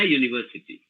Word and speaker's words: university: something like that so you say an umbrella but you say yeah university and sometimes some teachers